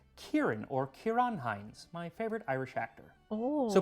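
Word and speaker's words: Ciarán Hinds: he i used to think his name was cyren hines but it's actually pronounced kieran or kiran heinz my favorite irish actor so put a layer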